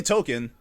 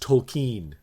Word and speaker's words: Tolkien: i well cause like if you say token oh yeah jrtoken do you hear the l yeah but apparently we've been saying it wrong it's actually supposed to be pronounced tolkien yeah yeah tokyo but